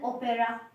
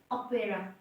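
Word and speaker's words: opera: इसमें example ओपेरा, ओपेरा, हम इसको ओपेरा पढ़ते हैं, बट जबकि अगर करंट प्रोनाउंसिएशन इसकी देखी जाए तो वो क्या होती है? ओपेरा। साउंड इसमें अ की आती है बट हम लिखते ओ हैं, तो उसमें हम लाइट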